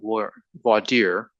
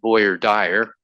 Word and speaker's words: voir dire: Some lawyers at the beginning of the selection process, they call it voir dire, Some people, like in Texas, pronounce it boy or dyer.